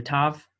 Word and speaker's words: tav: This is the tav, ata, ata, and if that's with the, it can have the dot and it cannot have the dot. In the case of the tav, we pronounce it the same, ata, ata. Some people, however, will pronounce the soft pronunciation. They'll give it a soft pronunciation, which is atha, just like a TH sound.